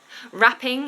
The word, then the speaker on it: wrapping: in really red wrapping wrapping is another word that has a silent letter at the beginning so it has a silent w at the beginning so we just start with an a sound roses in really red